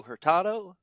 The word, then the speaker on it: Hurtado: uh today we are speaking with uh herado uh I pronounced your last name correctly right very very